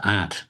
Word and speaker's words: Ad: father's uh his father aunt, A D. I guess the D is pronounced as a T. I'm not Dutch, but that's what I'm told. And aunt junior had written the